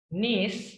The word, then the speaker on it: niece: Niece itu untuk girls. Jadi kalau kita punya keponakan laki-laki, we call him as nephew. Nephew. Nephew. Pakai F, nephew. For niece itu perempuan. Niece, N-I-S bacanya.